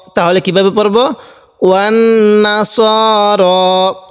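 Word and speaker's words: وَالنَّصَارَىٰ: ওয়ান নাসার। অনেকে আমরা এখানে যে ভুলটি করি সেটি হলো ওয়ান নাসারা এরকম করে পড়ি। এরকমভাবে পড়ব না। তাহলে কিভাবে পড়ব? ওয়ান নাসার এরকমভাবে পড়ব।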